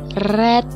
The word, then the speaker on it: read: sini bukunya book is Red by Mom ini bacanya red kalau udah dia kata kerja ketiga bacanya red tetapi penulisannya tetap kata kerja keduanya juga begitu red juga baca nyata cara menulisnya read begitu maka bisa kita simpulkan